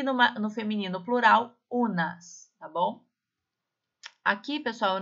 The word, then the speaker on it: un: Olha só como nós pronunciamos un, tá? O som é bem anasalado, un.